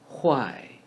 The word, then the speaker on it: 坏: 坏 we can link the words who and I together. Who, I. 坏 bad.